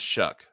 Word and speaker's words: Shuck: The correct pronunciation is Shuck. Okay, so it's Shuck, not Suck.